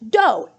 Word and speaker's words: do: Anywhere, doesn't that spell do? Yes, if you're in English, but remember, solfege syllables are not English, they're just kind of gibberish syllables. So it's actually pronounced do, D-O.